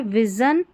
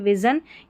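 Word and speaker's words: vision: SION जो है ना, इसको शन और जन दो इसके उच्चारण हैं, ठीक है। अब सबसे पहले हम देख लेते हैं, यहाँ पर जो है विज़न, ये है विज़न, यहाँ पर देखिए विज़न यानी कि दृष्टि, विज़न में जन पढ़ा गया है SION को,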